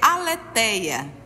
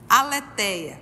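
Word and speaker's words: ἀλήθεια: gostei do conceito etimologia no grego verdade é na pronúncia em Greg É aleteia aleteia verdade que significa o não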